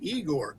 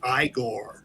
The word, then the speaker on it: Igor: In a couple of them, Bela Lugosi played a character called Igor. And so Frederick looks at him and says, well, you must be Igor. No, it's pronounced Igor.